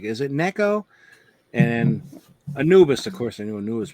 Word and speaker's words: Anubis: Yep, it's Anubis.